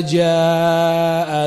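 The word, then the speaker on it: جاء: Ya, seperti tadi idza jaa nasrullah, jaa itu panjang.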